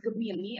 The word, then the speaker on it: Gemini: Jadi kalau secara penulisannya memang Gemini, tapi secara pelafalannya itu tuh harus Gemini ya Bapak Ibu.